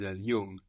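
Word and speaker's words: jung: my brother is young it's like the English NG actually so you don't really hear a g here it's more Nas Yung y good my is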